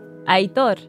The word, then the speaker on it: Aitor: Wait, so now I'm curious, what's everyone's full name pronunciation in Spanish? Mine is Elainy Mata. Interesting. I'm just Aitor. Aitor.